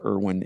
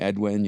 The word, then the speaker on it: Irwin: and so it's just you go to Latin America and you end up being Edwin you end up being